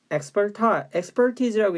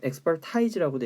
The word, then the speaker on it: expertise: expertise라고 읽는데 expertise라고도 읽어요.